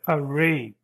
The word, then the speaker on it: array: com isso viu porque a pronúncia em inglês é Array Então quando você vai